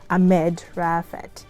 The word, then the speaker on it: Maged Raafat: wasn't i think i read the the last name wrong it's actually a med raphael and yeah so that's that's uh how they